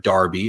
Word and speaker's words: derby: we talk about a derby um or a Darby as it's pronounced in some areas of the world you think about you